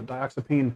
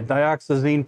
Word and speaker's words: dioxazine: i'm using are they acts it was a dioxipine purple is how you say that dioxane purple look at that real quick yeah dioxazine purple and uh ox chromium oxide green and